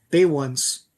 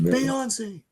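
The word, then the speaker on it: Beyoncé: Bay ones. That's how it's spelled. Yeah, I remember seeing that. Who's Bay Ones? Who the hell's Bay ones? Anyway, it's like Penelope. Bay twice? No, it's Beyonce.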